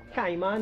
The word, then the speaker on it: Caiman: up some one of those Hills up the kman hill that's how it's pronounced yes K so folks we can see